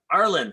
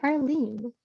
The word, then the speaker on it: Arlene: Arlen, am I pronouncing your name right? It's actually Arlene.